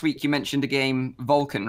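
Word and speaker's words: Volkan: And the game is pronounced Vulcan as in V-O-L-C-A-N.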